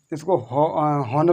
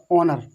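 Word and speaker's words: honour: और इसको हॉनर नहीं पढ़ना है, हॉनर नहीं पढ़ा, ऑनर, ऑनर, ONOUR। लगेगा एच, क्योंकि हमने बता दिया एच लगेगा, बट उस एच को साइलेंट हो जाएगा, क्योंकि इस एच के बाद क्या है, वोवेल हमारा है, वोवेल हमारा साइलेंट, जो एच होता है वो हमारा साइलेंट हो जाता है।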